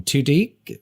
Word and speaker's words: Tudyk: And I thought about Alan, I don't know how you pronounce his last name, Tudyk. Alan Tudyk. Alan Tudyk, thank you.